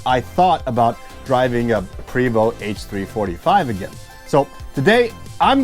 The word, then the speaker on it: Prevost: This seems to be a very touchy thing amongst Prevost enthusiasts. I got used to saying Prevost because that's the way I heard it pronounced the most.